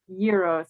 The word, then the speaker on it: gyros: haley you'll notice that she pronounced it gyros i think that's the proper pronunciation i i pronounced it the very americanized version i'm excited to try